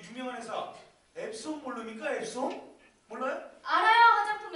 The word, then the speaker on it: EPSON: NK 사용 제품을 출시한 에피소드 이거 D 아니에요 에피소드 자 김지민 기자 이거 누가으로 써놨지 김지민 기자 진정하시고 에피소드가 아니라 그건 손이라고 읽는 거잖아요 그 유명한 회사 앱손 모릅니까 앱손 몰라요 알아요